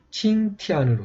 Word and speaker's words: 淸天: 한자에서 칭티안으로 이렇게 칭티안으로 표기가 되어 있고요. 이렇게 먼저 T를 읽은 다음에 야를 같이 동시에 읽으면서 니은을 읽으라고 이렇게 표기가 되어 있습니다.